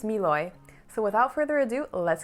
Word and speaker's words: Mlouye: company right here and for those of you who don't know how to pronounce it it's miloy so without further ado